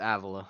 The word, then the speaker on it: Avila: I'm pronouncing your name Avila all night long. I got it right this time? Uh it's Avila. Dang it. Oh, I did it wrong again.